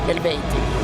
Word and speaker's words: Eluveitie: But according to language science, it would be pronounced Eluveitie. Eluveitie.